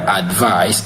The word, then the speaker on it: advice: Advice is stressed in the first syllable, advice, while advice is stressed in the second syllable, which is advice.